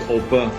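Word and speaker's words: Opa: grandpa grandpa or oppa in german it's oppa you really have to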